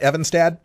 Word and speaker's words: Evenstad: Ross s and do I have the name pronounced right evad yes oh fantastic all right glad I got